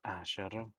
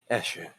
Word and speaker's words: Escher: to be fair, Miss Asher, the wilds are an untamed land. She holds her hand up and stuff. It's Escher. Escher. If you're going to say it correctly.